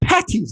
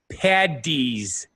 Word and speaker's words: Paddy's: Patty's Day well the correct way to say it is st. Paddy's Day well I think what